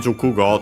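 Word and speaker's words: 熟語: And then Jukugo, this one is actually also quite used unaccented.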